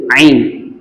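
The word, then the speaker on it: عين: மாதிரிதான் இந்த லோவையும் பயன்படுத்தணும் அடுத்து ஐன் ஐன் என்கிற வார்த்தை நம்மளுடைய நடுத்தொண்டையிலிருந்து சவுண்டை வெளியாக்கணும் நடுத்தொண்டை அப்படின்னு சொன்னா என்னது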